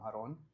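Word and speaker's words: Aarón: I'm no longer Aaron, I'm Aaron. Ahora I es saw Aaron. that. I Yeah. saw that. Yeah, The thank you. accento on the O.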